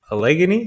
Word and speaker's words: Allegheny: Allegheny? Is that how you pronounce it?